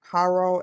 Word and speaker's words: Haro: Emmanuel Haro. Haro. H A R O I believe is how it's spelled. Haro. Haro. Haru.